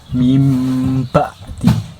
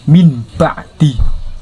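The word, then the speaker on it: من بعد: Dan ketika nun mati bertemu huruf ba tersebut, maka dibaca mim kebacanya mim seperti hanya mim ba'di itu akan aslinya min ba'di. Nah, karena kemasukan langsung ke baca mim menjadi mim ba'di.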